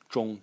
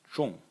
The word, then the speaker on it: 仲: the characters where this zhong character can be found. So the first character in the series is pronounced zhong. Zhong. In the fourth tone, and its meaning is middle, intermediate, or second.